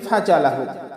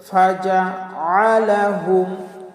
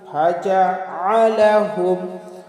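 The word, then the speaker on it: فجعلهم: আমরা মারাত্মক ভুল করি, অনেকেই পাঠ করি ফাজআলাহুম, ফাজ, ফা জিম জবর ফাজ বলে ফেলি, কিন্তু না, ফা জবর ফা, জিম জবর যা, ফাজা, ফাজা। এরপরে আছে কি আইন, আমরা আইনকে হামজা বানিয়ে বলি ফাজা, ফাজা, হামজা বানিয়ে ফেলি, ফাজা, এভাবে বলি, কিন্তু এটা আমাদের ভুল হবে। কি বলতে হবে? ফাজআলাহুম, ফাজআলাহুম, ফাজআলাহুম বলবো না, কি বলবো?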